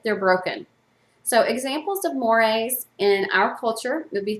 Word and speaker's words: mores: what's called amore it's spelled m-o-r-e but it's pronounced moire these are social rules that a society believes has moral significance and deserve harsher sanctions harsher punishments if they're broken so examples of mores in our culture would be things like do